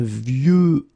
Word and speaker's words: vieux: And the last one is vieux, old, un vieux arbre, okay, of course you've got this X at the end, but you don't pronounce it, okay?